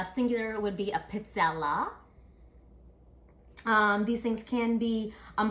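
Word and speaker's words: pizzella: it's a Italian waffle cookie and it's actually pronounced pizza all right singular would be a pizza la these things can be um heart or crisp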